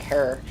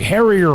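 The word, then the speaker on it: Herer: of this possible jack herr uh rhymes with terror for those of you pronouncing it wrong hey what was that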